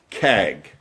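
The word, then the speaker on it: חג: The word here is chaq, pronounced kag. In English, we'd say kag. In Hebrew, they'd have more of a guttural kag or something, but so I don't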